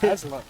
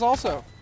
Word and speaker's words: Aslo: I realize I've been pronouncing Six's name wrong. It's Aslo. Yep. I thought it was also.